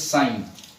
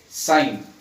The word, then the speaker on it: sine: it is known as sine, but many people pronounce it as sin, which is a wrong pronunciation. The correct pronunciation is sine.